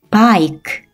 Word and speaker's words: bike: E는 발음이 나지 않으니까 이 단어를 한 번에 읽으면 bike, bike라는 단어가 돼요.